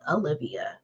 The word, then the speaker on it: Aliviyah: So Aliviyah.